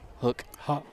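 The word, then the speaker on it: Houk: Is it Hook? Hauk. Hauk. Yeah, I was listening to their broadcast. I watched some of their film, and I was listening to the broadcast, seeing if I could get some pronunciations from their play-by-play guys. And so, yeah, his name's Hauk, H-O-U-K.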